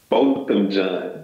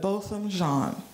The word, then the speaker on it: Botham Jean: Botham Jean. Botham Jean.